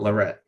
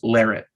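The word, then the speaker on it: Larratt: But guys, if you've been pronouncing it Larette, it's Larrett, apparently.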